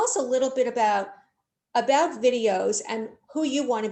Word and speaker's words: Viddyoze: So on that point, James, what I want to ask you is, so now tell us a little bit about videos and who you want to be meeting so that people out there will be able to either connect with you.